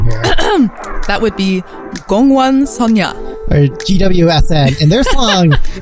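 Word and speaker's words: 공원소녀: It's from an Ago girl group, and Stephanie, I'm going to need you to help me pronounce the name here. That would be Gongwon Sonya.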